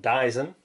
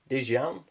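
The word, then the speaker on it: Dzyan: Not Dyson, Dijan. Say it properly.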